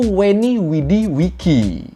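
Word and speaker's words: Veni, Vidi, Vici: The V in Latin is pronounced like a W sound.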